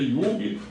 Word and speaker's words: Jung: tal de Milton Jung, o nome dele é Jung, pronuncia Jung porque ele não é filho de brasileiro, ele não é brasileiro, ele é filho de estrangeiro, nascido no Brasil atualmente.